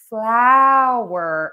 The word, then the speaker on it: flour: So flour has the sound and floor has the sound. So for flower, we're going to open and move our mouth a lot. So these words are pronounced differently in American English.